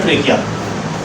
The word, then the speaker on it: trachea: मेरा बेटा उस नाली का नाम है ट्रेकिया। क्या नाम है मेरा बेटा उसका? ट्रेकिया।